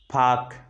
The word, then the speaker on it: park: Vowel plus R. Park, P-A-R-K, park. In the word, the sound R is not pronounced.